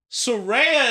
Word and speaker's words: Saraya: Because it sort of sounds like a black woman's name. Oh, And we got all sorts of pronunciations of things, and it's like... So I knew instantly that it was Saraya.